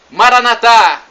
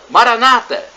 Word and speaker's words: Maranatha: a e do aramaico Eu Clamo Maranatha como dizemos nosso católicos ou Maranata com a tônica na penúltima sílaba como dizem nossos irmãos separados os evangélicos ou protestantes não importa a pronúncia